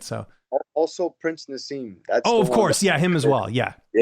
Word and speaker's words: Nazim: Now, at the top of this interview, I was asking you how to pronounce your first name, and you pronounce it Nazim.